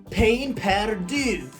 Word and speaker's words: pain perdu: So French toast is a dish called pain perdu.